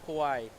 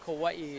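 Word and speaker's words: Kauaʻi: on you guys you're from the island of Kawai yeah or Kawaii is more properly pronounced and um you know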